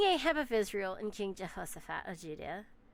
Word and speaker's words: Jehoshaphat: So King Ahab of Israel and King Jehoshaphat of Judah. Don't forget the SH, Jehoshaphat.